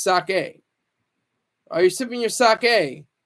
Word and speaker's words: sake: some Yen while you're sipping your saki sake excuse me I I said it wrong it's sake are you're sipping your